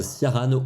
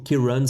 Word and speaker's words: Ciarán: suivre attentivement la tempête siaran ou plutôt Kiran si on le prononce à l'irlandaise elle va arriver par